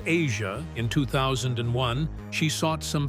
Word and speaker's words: Eja: her husband welcomed their son Asia, pronounced as Asia.